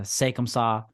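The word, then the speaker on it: C'est comme ça: it's uh it's a French title uh it's pronounced uh sakum saw and I don't know what they're doing but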